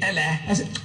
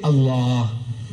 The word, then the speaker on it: Allah: a l a h is allah you say allah look say allah my language my language i want you to pronounce as i want you to pronounce you